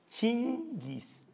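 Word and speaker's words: Chinggis: no sé bien pero creo que en mongol se pronuncia chingis pa sí era lo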